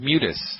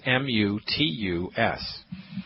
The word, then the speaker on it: mutus: Second word, mutus. M like Mary, U. T like Thomas, U. S like Sam. That's M-U-T-U-S.